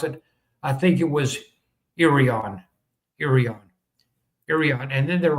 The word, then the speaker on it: Irion: I contacted their chamber of commerce uh and they told me how to pronounce it. I think it was Irion.